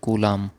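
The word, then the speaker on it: Coulomb: है वह होता है कूलाम कूलाम कूलाम कूलाम कूलाम को बड़े वाले सी से दर्शाते हैं क्योंकि इसकी स्पेलिंग इंग्लिश में सीओ यू एल ओ एम बी कूलम होती है ना इसलिए इसका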